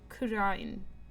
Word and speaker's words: Kurain: So, they usually say it like, ra, sort of. So, like, kurain.